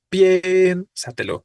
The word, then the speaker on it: piénsatelo: tenemos dos vocales consecutivas Pero sabemos que la tónica es la e porque decimos piénsatelo no piénsatelo no sino piénsatelo la tonicidad recaía entonces sobre la e es una palabra sobreesdrújula